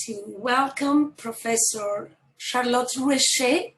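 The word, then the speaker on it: Roueché: This short break, I would like to welcome Professor Charlotte Rouechet. I hope that I'm pronouncing correctly the accent at the end of your.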